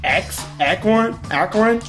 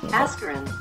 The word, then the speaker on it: Askren: Ben, I think, Akron? Okay, Google Translate. Save me now. Do not know how to pronounce his last name.